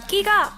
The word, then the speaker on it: 끼: 그래서 나에게 주어진 끼가 얼마인지 늘 의심을 하게 됩니다. 무대위 저는 어떤 모습일까요? 끼 끼 끼 어금니를 꽉 깨물고 강하게 발음해 봅니다.